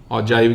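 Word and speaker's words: ogive: ऑजाइव कह लो, ऑजिव कह लो, ऑगिव कह लो, जो प्रोनाउंस करना चाहते हो, ठीक है।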